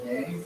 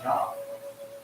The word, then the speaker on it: Yang: So people call it yang all the time. There's no sound. There's no yang sound in the Chinese. It's yang. Yeah. Okay. Yeah, it's the ah sound.